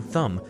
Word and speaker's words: thumb: The thickest and shortest finger is called the thumb thumb. It is very useful for gripping t h u m b. The b at the end is silent.